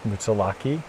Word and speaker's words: Moosilauke: what everyone calls it because we can't pronounce the mouse mutsalaki i think is how it's pronounced then go down the